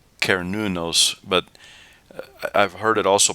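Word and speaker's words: Cernunnos: with this this imported pan god uh it's pronounced kernunos but i've heard it also pronounced sarnunos and i wonder if that's where cern gets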